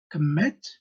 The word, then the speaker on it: commit: Commit. So the second syllable is mit.